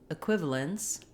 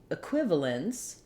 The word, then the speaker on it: equivalence: letters in the word equivalence the stress falls on the second syllable Qui and this first